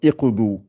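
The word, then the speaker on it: اقضوا: Et le dod, qui est la troisième lettre, suit la règle du ou. Et malgré ça, si vous devriez commencer par ici, vous allez dire un iqdu, un i au lieu de ou.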